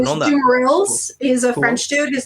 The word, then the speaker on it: Dumeril's: Is it Dumerils or Dumeril? I've heard both. There is an S at the end of the word because it's the guy who named them, or well, it wasn't